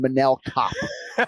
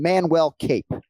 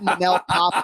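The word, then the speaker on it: Manel Kape: Hey, can you work with me on the pronunciation? We're going Manel Kopp. Manel, what did I call him? Manel Cop. You called him Manuel Cape. Can we go Manel Cop?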